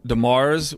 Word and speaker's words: DeMers: Uh and Demars. We uh I found out um is how we pronounce it.